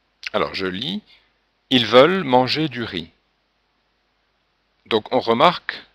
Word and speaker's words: manger: Manger, on ne prononce pas le R, on n'entend pas le son R.